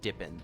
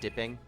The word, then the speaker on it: Dippin: the four dippin sauces i believe you have to pronounce it dip in correct they're dippin sauces not dipping of the four dippin